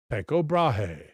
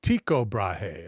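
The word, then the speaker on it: Tycho Brahe: Tao Brahea is the one that had the uh the uh prosthetic nose, right? Just writing in my notes. It is pronounced bra. Oh, it's tiko brahe according to the author.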